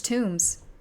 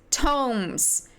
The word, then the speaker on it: tomes: me hunched over large tombs tomes I think it's tomes and I keep saying tombs it's tomes I did this I